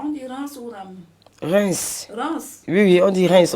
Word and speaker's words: Reims: Reims. Reims. Oui, on dit Reims. On ne prononce pas le M, on dit Reims.